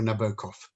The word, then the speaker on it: Nabokov: i'm assuming that's a reference to nabokov um or nabokov as it's pronounced um have a reference